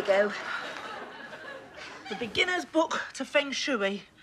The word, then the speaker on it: Feng Shui: The beginner's book to Feng Shui. It's pronounced Feng Shui.